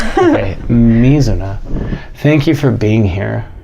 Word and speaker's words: Mizuna: Is the emphasis on the first syllable? On the me. Okay, Mizuna.